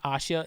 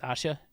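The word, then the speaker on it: 아샤: fact her name is Asha it's pronounced Asha in Korean I don't know why they spelled Asia but it's Asha just for the inevitable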